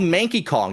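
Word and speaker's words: Manky Kong: They're called Mankey Kong. It rhymes with Lanky.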